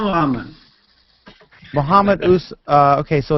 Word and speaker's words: Muhammad: Usman Muhammad.